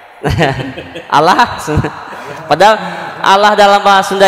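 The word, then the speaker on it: الله: yang menentukan harkat sebelumnya berarti kalau harkat sebelumnya fathah atau dhomah maka lam lafaz jalalah dibaca tebal Allah kalau sebelumnya harkat kasrah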